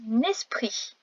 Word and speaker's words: esprit: Un esprit avec un T à la fin. Un T muet.